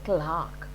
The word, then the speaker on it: clerk: is called messiah a clerk c-l-e-r-k it's a hindi it is clerk but in english it is pronounced as clark in the ministry of